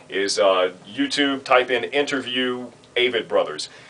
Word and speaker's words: Avett Brothers: The Avett Brothers. So there's how to pronounce the Avett Brothers.